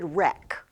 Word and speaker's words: wreck: So rack here, often spelled with a W, it's really wreck, like something that might wreck your ship, right?